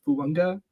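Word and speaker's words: Fuaga: There's no N in his last name, but it's Fuanga. It's pronounced with an N in it.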